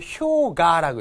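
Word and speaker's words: 氷河: 우리는 빙이지만 일본어는 효가라고 읽죠. 빙하를.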